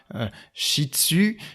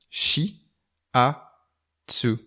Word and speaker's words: Shiatsu: terme shift2 s est alors non ça ne se prononcent pas shih tzu ça ne se prononce pas chie dessus ça ne se prononce pas athée soit tube saad se prononce tout simplement il vient comme ça s'écrit chi a su chi à dessus alors